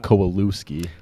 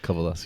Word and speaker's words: Kowalewsky: So, looks like Kowalooski. Yeah. Kalaskki. Yeah. I tell people to spell it cow al, but when you say it, just don't look at it.